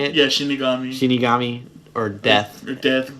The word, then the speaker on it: shinigami: Yeah, Shinigami.